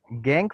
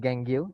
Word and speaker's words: gangue: Gangue particle, not gangue. It is gangue. Okay, pronunciation is gangue.